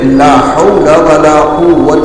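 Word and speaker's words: لا حول ولا قوة: اور وہ ذکر ہے لا حول ولا قوت الا باللہ۔ کہیے لا حول، یہ ہا بہت صاف نکلنا چاہیے۔ کسی بھی ذکر کا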